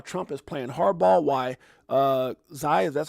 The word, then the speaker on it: Xi: Why Xi, that's how you say it, is running out of moves.